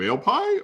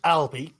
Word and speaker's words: Albie: Are you Ale Pie, or is there another story to the name? It's pronounced Albie, but yes, I am.